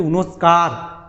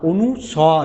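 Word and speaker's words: অনুস্বার: এরপরে যেটা রয়েছে সেটা যে আমরা বলি ছোটোবেলা থেকে উচ্চারণ করছি অনুস্কার, অনুষ্কা শর্মা নয় অনুস্বর, এটা কি অনুস্বর, একটা ক্ষুদ্র স্বর, তাই এটা হচ্ছে অনুস্বর।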